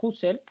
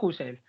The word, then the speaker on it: Husserl: Mari Carmen Mari Carmen Perdóname por mi pronunciación del alemán de husel vale Yo sé que no se pronuncia así pero es para entendernos vale porque es queel es husel se pronuncia así se pronuncia así yo siempre había escuchado mis amigos que hablan mejor que no no no si pones la boca como una I y dices una u Cómo es entonces husel vale vale Yo yo